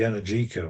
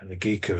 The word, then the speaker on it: Energica: But if you really want, there's an interesting project out of Canada, um, but the star is the Energica, or Energica, as the pronunciation varies, out of Bologna, Italy.